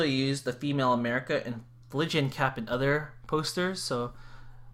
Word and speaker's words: Phrygian: Here's how you pronounce it, a Phrygian cap.